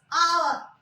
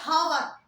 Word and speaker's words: hour: But if I say hour, now starting with consonant, again starting with consonant, but here H sound is silent. It's hour. We don't say hour.